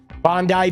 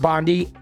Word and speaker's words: Bondi: Is it pronounced Bondi? Okay, thank you. Bondi Beach, not Bondi.